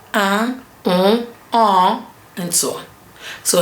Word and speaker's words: un: I and N combined together, or I and M combined together, gives you a nasal vowel that is un.